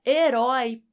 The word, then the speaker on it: herói: forte é a última quando você divide as sílabas de herói fica assim e rói Qual é a sílaba mais forte Roy é a última então herói não perdeu